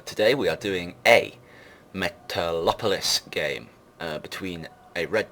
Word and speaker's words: Metalopolis: but as previously stated this map is Metropolis metalopolis Metropolis however you wish to pronounce it although I assume the correct translation uh pronunciation is metalopolis I will quite often call it metalopolis because I always forget about that extra L um but as I